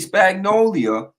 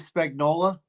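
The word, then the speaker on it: Spagnuolo: defensive guy the spag Steve Spagnola yeah that guy always get his name wrong I always say spagnolia because I want I just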